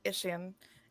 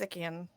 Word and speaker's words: Ikian: Actually, it's not. What? It's not Ishian. It's Ikian. You say it wrong.